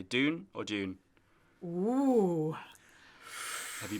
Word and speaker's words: Dune: some radio interviews, and a lot of British pronunciation is June. You know, just going naturally into that. So it is interesting, but I think we've been told it's Dune.